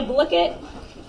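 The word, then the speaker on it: Blooket: of today we are going to play a blicket look it that's what I found out is how you pronounce it fun facts so I would take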